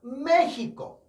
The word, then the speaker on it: México: 특히나 제일 어려운 게 이 3번 발음이 아닐까 싶습니다. 자, 그리고 마찬가지로 국명 볼까요? 어떻게 한다고요? 메히코.